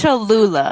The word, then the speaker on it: Cholula: How is it pronounced? Cholula? It's Cholula.